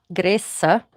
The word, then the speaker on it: grease: And I'm going to bring our grease greasah as it would have been pronounced in 15th century English.